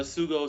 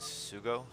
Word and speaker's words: SuGo: we start off with Sugo Shugo I I don't know how you want to pronounce I'm pretty sure it's Shugo right I think that's the Korean way yeah so top right